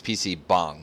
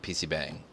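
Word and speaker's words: PC방: I would say um so I'm saying that wrong it's PC bong not PC Bang Yeah it's PC bong I mean if you want to pronounce it in like the Korean pronunciation yeah gotcha so uh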